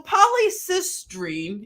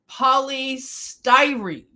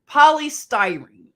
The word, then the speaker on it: polystyrene: all of this was going on here so polycystream if I'm not saying it right polystyrene sorry polystyrene it is a synthetic polymer made from monomers